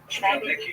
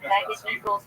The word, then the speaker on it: Khmelnytsky: You may have seen his name in the literature spelled with a CH of the Polish spelling. Khmelnytsky, but it's pronounced Khmelnytsky.